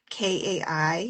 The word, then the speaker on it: Kai: I I don't know how to spell it, but one I picked up that I particularly liked was K AI. Is it Kai?